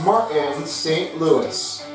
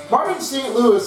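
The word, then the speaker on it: Martin St. Louis: the Montreal Canadians is Martin St Louis Martin St Louis is also a French pronunciation and definitely a Canadian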